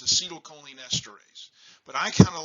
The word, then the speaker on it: acetylcholinesterase: what we do and i'm going to mispronounce this i call it acetylcholine arrays the true word is acetylcholinesterase but i kind of